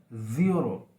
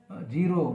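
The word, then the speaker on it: zero: उसी तरह से वर्ड है ज़ीरो, जैसे हम बोलते हैं ज़ीरो, जीरो बोल देते हैं बहुत से, तो ये नहीं होता, वो सही प्रोनाउंसिएशन नहीं है, बल्कि ज़ीरो, ज़ीरो, ये सही प्रोनाउंसिएशन है।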